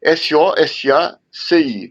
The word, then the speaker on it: SOSACI: Facebook é só Facebook, Sosaci, escreve S-O-S-A-C-I, né? É um S só do Saci, não apesar da gente pronunciar Sosaci, é um S só.